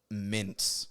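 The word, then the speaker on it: Myntz: was product that was spelled m-y-n-t-z and i couldn't because like i've been do like my brain had been set on mispronouncing stuff but that was such a janky spelling and i'm like what the how the do you even pronounce that regularly and my friend looks at me and goes mints and i was like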